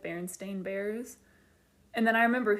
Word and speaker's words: Berenstain: they pronounce it, and in the show it's pronounced Berenstain, and it's spelled that way.